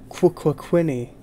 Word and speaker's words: Quququinny: I'm your host, Charles Michael, and we're back with none other than QUQUQUINNY, as she prefers her name to be pronounced. It's a stutter, you see. QUQUQUQUQUINNY. It's like a stutter, QUQUQUINNY.